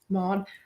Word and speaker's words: Maud: rose okay so basically her name's maud is that how you pronounce mod m-a-u-d mod and so she lives